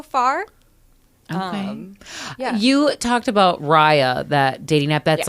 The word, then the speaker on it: Raya: Raya, it's Raya.